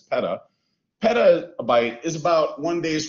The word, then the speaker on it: peta: big so a petabyte it's pronounced peta not peta like the organization it's peta petabyte is about one